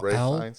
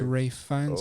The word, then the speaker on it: Ralph Fiennes: There's no Rafe L Fiennes? in it. It's Rafe Fiennes.